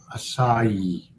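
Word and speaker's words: açaí: and then i'm gone aki is a fruit pronounced acai cool well there you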